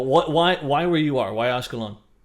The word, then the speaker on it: Ashkelon: kind of give an idea of why is Ashkelon, it's pronounced, why is Ashkelon an area that's being bombarded?